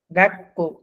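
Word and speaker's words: がっこう: তার জন্য একবার হবে গাক, পরে এটার ওর সাথে মিলাই হবে কো। গাক কো, এটা হচ্ছে সঠিক উচ্চারণ, গাক কো।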